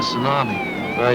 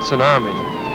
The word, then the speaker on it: tsunami: a tidal wave a tsunami you mispronounced it it's tsunami it's a Japanese word oceanographers use it took